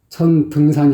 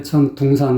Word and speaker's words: 천등산: 어떤 사람들 은 천등산 이라고 정확 하게 발음 하고 , 어떤 사람들 은 천둥산 이라고 발음 합니다 . 가수들 사이 에서 도 다양 한 면모가 있지만 , 이곳 은 천등산 이다 .